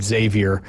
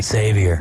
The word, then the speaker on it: Xavier: I first started here I would call him Xavier all the time and people Xavier Xavier I'm like well why' they spell it with an X then yeah just put a z you from an X to a z right on but yeah